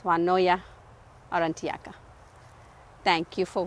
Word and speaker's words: Juanulloa: the name is uh the two L's in the name uh gives it a v sound so finally I got the U consensus that it is woya or anaka thank you